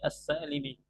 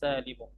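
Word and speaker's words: السالم: Orang-orang banyaknya mengatakannya dengan as-salimi, dengan mengkasrahkan mim. Padahal as-salim di sini bukan sifat untuk muannas, melainkan sifat untuk jamaah. Maka yang benar cara bacanya adalah jam'ul muannatsis salimu.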